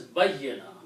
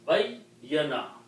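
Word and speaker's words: بيّن: And this is pronounced as bayyana because you have two yas, bayyana.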